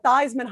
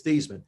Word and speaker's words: Theismann: the office he said joe how do you pronounce your last name i said it's thiesman he said no actually it's pronounced theism i said no my